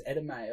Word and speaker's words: edamame: it's pronounced edamame, Yeah, isn't that makes it? sense. I always butcher the pronouncing of that. Pretty sure it's Edamame. I'm an Wait, uncultured what, swine. edamame? Edamame, it's not edamame. No, it's Edamame. edamame. There's two M's in there.